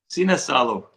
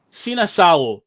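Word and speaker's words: Sinisalo: Bit of an interesting one because, and you taught me how to pronounce this before the show, Liam. So, substitute goalkeeper, how do we say it? Sina Salo. Sina Salo is going to start.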